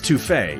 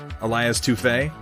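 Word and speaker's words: Elias Toufexis: actors as is it it's toufe isn't it elias toufey i've been pronouncing his name wrong like forever because it's french battletech advanced 3062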